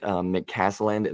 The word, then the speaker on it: McCasland: But they had a lot of guys to fill, but I think Grant McCasland, that's how you pronounce his name.